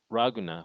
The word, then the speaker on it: Ragna: of um ragna is raguna which is actually kind of like a Japanese way to say the Spanish word Laguna so it actually could